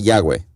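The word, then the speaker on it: Yahvé: impronunciable ebro de dios y h w h que se dice yagüe en tiempos bíblicos los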